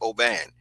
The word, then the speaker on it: Aubin: It's Aubin, and it's pronounced Oban.